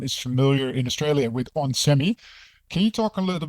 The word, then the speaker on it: onsemi: onsemi is basically how you pronounce it.